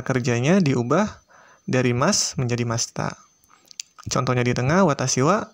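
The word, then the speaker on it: ました: Kemudian diakhiri dengan masta. Jadi intinya akhiran masnya diubah menjadi masita atau masta bacanya ya, untuk membuat bentuk lampau dalam bahasa Jepang.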